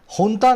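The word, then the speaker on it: junta: अब देखो हुंता को इंग्लिश में लिखते हैं जुंता, ये जे है ना, इसको एच प्रोनाउंस करते हैं, ठीक है, इसको एच प्रोनाउंस करते हैं, लेकिन लिखा जाता है जुंता और बोला जाता है हुंता, ठीक है।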